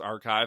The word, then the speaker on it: arXiv: It went up on Archive. They spell it ARXIV, but it's pronounced Archive.